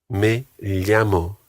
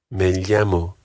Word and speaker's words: me llamo: Me llamo. This is another of these words that may well be pronounced slightly differently in the different Spanish-speaking countries across the world. But we'll stick to me llamo.